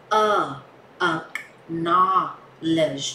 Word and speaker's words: acknowledge: nha từ acknowledge và đọc phải đọc là a knowledge chứ không phải đọc là knowledge đâu nhá knowledge Ờ O Ờ